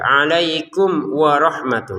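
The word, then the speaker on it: عَلَيْكُمْ وَرَحْمَتُهُ: Nah, di sini alai fadlullahi alaikum mim sukun bertemu wau. Iniini kita baca dengan jelas ya. Alaikum warahmatun. Nah, situ. Jadi jangan alaikum. Nah, jangan. Jangan lagi ada dengung di sini ya atau samar ya.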